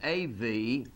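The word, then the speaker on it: אב: from the article from the word Bob it's pronounced AV Avraham and it means to wit to desire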